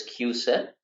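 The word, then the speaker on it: CUSIP: the next one is what we call this q-sip q-sip that it's pronounced it's c-u-s-i-p but it's pronounced as q-set and this stands for committee for uniform securities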